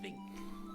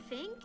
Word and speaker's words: Vink: So his name's Dr. Vink, but they call him Fink, and he's like, Dr. Vink with a ver.